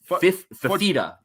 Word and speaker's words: Fifita: It's Noah Fifita.